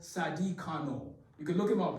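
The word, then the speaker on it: Carnot: engineering tied to a french guy called Sadi Kano you could look him up his name is spelled c-a-r-n-o-t okay let me draw you a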